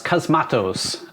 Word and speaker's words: Cosmatos: was directed by panos cosmatos which vince said sounds like a harry potter spell i think that's